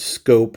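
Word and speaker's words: Schoop: Jonathan Scope. Easy to say his name wrong, but it's Scope like a rifle scope.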